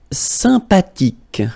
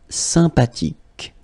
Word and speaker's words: sympathique: Sympathique, remember the H is not pronounced, sympathique, okay, and it means friendly, nice.